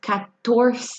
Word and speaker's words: catorce: they say today say 14 as Catorce a cat door say 15 as keen